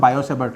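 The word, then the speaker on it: Biot–Savart: Form of बायोसेवर्ट लॉ T silent होता है। इसको आप लोग प्रोनाउंस करोगे बायोसेवर्ट लॉ बायोसेवर्ट लॉ वैसे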